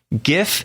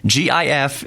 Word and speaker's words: GIF: when he said that gif G if is pronounced GIF and let me tell you why it is not the G as in giraffe if it was giraffe